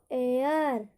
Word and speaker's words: heir: देखिए, HEIR, यहाँ पर एच क्या है, साइलेंट। एच क्या है यहाँ पर, साइलेंट। यहाँ पे हम पढ़ेंगे इसको एयर, एयर। यहाँ पर हेयर नहीं पढ़ेंगे, एयर, एयर।